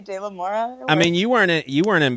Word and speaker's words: De La Mora: I know, like with the Spanish accent, it's like De La Mora. Yeah, but I just say De La Mora.